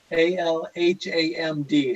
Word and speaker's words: Alhamd: Before Ali goes, okay, could you tell me, how do I pronounce ALHAMD? How's that? It's pronounced as Alhamd Auto Trade or Auto. Alhamd.